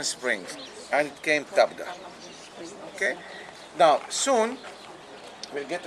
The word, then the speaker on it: Tabgha: And in Arabic, they call it Tabgha because the Arabs cannot pronounce the letter P. They pronounce it B. Tabgha.